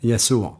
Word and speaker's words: Yeshua: Yeshua.